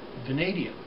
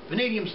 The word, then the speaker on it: vanadium: I came to vanadium, and I went, vanadium, you know, well, it sounds like vans, but there's not much story there. It rhymes with Canadian, but that's not, or almost rhymes with Canadian.